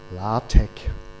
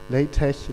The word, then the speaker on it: LaTeX: one and to teach you something more it's pronounced la tec okay from now on i try to speak and pronounce it correctly in this talk but please forgive me if i don't because latex latex whatever is so common in german so